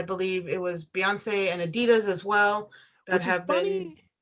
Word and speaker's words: Adidas: Adidas. Anybody from the UK, correct me if I'm saying it wrong, but I believe they call them Adidas instead of Adidas.